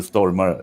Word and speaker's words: Stormare: One of the actors there is Peter Stormare, or whatever you pronounce it. It's actually Peter Stormare, a Swedish actor.